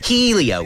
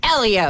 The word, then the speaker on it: Helio: who's very hot and it's pronounced Elio okay that too now